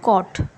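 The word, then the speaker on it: caught: गया, कॉट, कॉट, और जी एच जो है यहाँ पर हमारा साइलेंट होता है, ये भी प्रोनंसिएशन का रूल है, जब जी एच टी आए तो सिर्फ जो है टी को पढ़ते हैं हम, जी एच को नहीं पढ़ते, तो कॉट, cause, नॉटी, डॉटर, fault,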